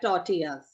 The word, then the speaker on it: tortilla: okay so this is prawn and these are tortillas ਇਹ prawn ਹੈ it is a kind of